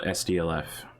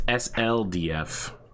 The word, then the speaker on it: SLDF: phoenix hawk 1c special sdlf okay cool all right you know what it's sldf and someone even recently messaged me about that because i was saying it wrong that's an easy one